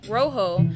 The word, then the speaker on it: rojo: you see the word read in Spanish it's pronounced Rojo but if you speak English it looks like